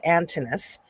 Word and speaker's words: Antinous: So there said the kid, but it's Antinous, as Hercules or Osiris.